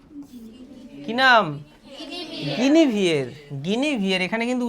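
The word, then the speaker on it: Guinevere: সুন্দরী একটি মেয়েকে, তার নাম হচ্ছে কি নাম, গিনিভিয়ের, গিনিভিয়ের, এখানে কিন্তু উচ্চারণে গিয়ে পরের দিন অনেকেই মুখ থুবড়ে পড়বে।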